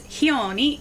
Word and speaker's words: Khione: It's Khione. The K is kind of silent. It's more like Khione.